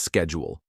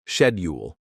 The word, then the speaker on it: schedule: For example, Americans say schedule as schedule, while Brits say schedule.